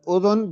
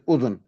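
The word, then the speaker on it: أذن: You can pronounce the second letter, that dal, you can pronounce it what a dhamma on the dal, on the dal, and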